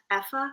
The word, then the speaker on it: Aoife: Actually, I think I saw you interviewed Effa.